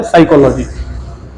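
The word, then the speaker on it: psychology: देते हैं साइकोलॉजी और इसमें पी क्या होता है दोस्तों साइलेंट होता है इसको पढ़ते है साइकोलॉजी इसको सिनोनिम होंगे दोस्तों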